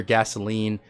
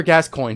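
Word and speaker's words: Gascoigne: and in the video I didn't even know how to say his name I was calling him father gasoline father kagi like all kinds of weird pronunciations that because I didn't know how to say his name but his name is father gascoin he was smoking me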